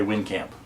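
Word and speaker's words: Wijnkamp: his name phone kong i think she said w-i-j-n-k-a-m-p so in english we might just say win camp but but he was dutch and um this recording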